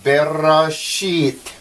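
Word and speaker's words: בראשית: pretty cool huh anyway so this is bear sheet and is the t sound so you sound it out verra sheet and if we look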